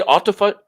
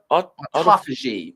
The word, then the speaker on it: autophagy: How do you say autophagy? Autophagy. Autophagy. Phage. Autophagy. Phage, P-H-A-G, phage means to eat. Auto means self. Autophagy means self-eating. So essentially, the body cleans out all of its cells, self-eating or autophagy.